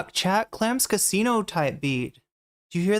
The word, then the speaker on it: Clams Casino: Clouds Casino type beat. Okay. Wait, am I saying it wrong? Clam's Casino. I don't know why I'm saying Cloud's Casino.